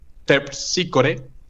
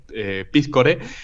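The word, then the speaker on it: Terpsícore: Eh, y justamente eh aquí en esto que estábamos diciendo, la complejidad que se le que se le hacía a Rabinovic eh pronunciar Tersícore, que lo decía como piscore, eh hacía referencia a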